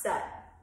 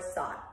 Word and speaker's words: Sat: And then we go sut, and the sut, it's S-A-T, but it's pronounced sut, okay? Or sot. I mean, you'll hear versions.